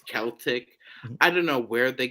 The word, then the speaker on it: Celtic: say this uh it it's pronounced Celtic it's not something it's Celtic I don't know where